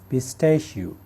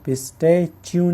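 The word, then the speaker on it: pistachio: पिस्ता इसको कहा जाता है पिस्टेश पिस्टेश पिस्ट्यू नहीं पिस्टेश मेरे साथ बोलिए पिस्टश आलू बुखारा प्लम आलू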